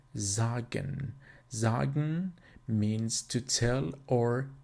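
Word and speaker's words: sagen: a sentence the letter has always the sound of a z so for example an example would be zagen zagen means to tell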